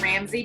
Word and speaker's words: Rambsy: w don't even ask it's pronounced Ramsey but it's spelled r a m BS y so just Ramsey law